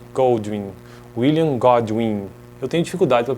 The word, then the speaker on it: William Godwin: né No próximo vídeo Quero tratar sobre William goldwin goldwin William godwin eu tenho dificuldade para pronunciar esses nomes aí sabia então gratius babou